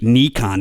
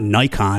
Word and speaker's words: Nikon: what you're talking about you're mispronouncing Nikon it should be Nikon not Nikon and I'm like okay well literally Nikon USA when we have calls with them and briefings they call it Nikon I believe they're right